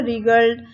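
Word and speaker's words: wriggled: अब इसमें जो फर्स्ट WWW लेटर, जो फर्स्ट लेटर है वो क्या है, साइलेंस है, ठीक है, वो साइलेंट है। इसको आप जब बोलेंगे तो आप क्या बोलेंगे, रिगल्ड, रिंकल और राइट बोलेंगे, ठीक है। और W का साउंड नहीं आएगा।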